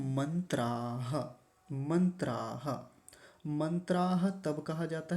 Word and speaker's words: मन्त्राः: इस प्रकरण में एक मंत्र होता तो क्या लिखा हुआ होता यहां पर मंत्रः तो मंत्राह ऐसा बोलेंगे एक बार पूरे शीर्षक